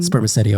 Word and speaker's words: spermaceti: Um, spermaceti oil.